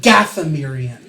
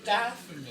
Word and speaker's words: Dathomir: I thought you were saying Dathomirian. No, Dathomir.